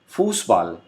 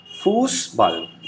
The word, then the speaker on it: Fußball: This special character is pronounced as double S. For example, football. We say football in English, but in German we say Fußball.